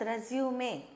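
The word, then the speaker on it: résumé: This is a French word with an accent, so we pronounce it as resume.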